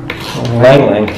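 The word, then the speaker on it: ylang-ylang: Langlang. Langlang. Lang. Yeah. The Y is silent.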